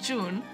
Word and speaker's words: June: June. Yeah, it's pronounced June.